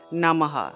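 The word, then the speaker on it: নমঃ: সারসত জফলা তাহলে সারসত নামহ নামহ বিসর্গ থাকলে হ উচ্চারণ তাহলে নমহ উচ্চারণ আসবে তাহলে কিরকম হবে ও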